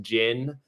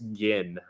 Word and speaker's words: Ginn: they see my name think it's pronounced Jin, like the alcohol, or Qui-Gon Jinn. But since I don't know, maybe if we get the word out there that it's Gin, that'll happen less.